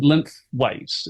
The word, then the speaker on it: Linthwaite: So yes, you're in Linthwaite. Is that the pronunciation, the town, and Yeah.